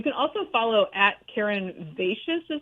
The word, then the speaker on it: Vaites: You can also follow at Karen Vaites is how you say her last name, Karen